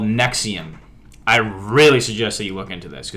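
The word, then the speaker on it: NXIVM: ] crazy so far-fetched there's this thing called nexium i really suggest that you look into this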